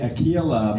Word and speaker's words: Ailia: that J uh uh usually we say Aila but we do say if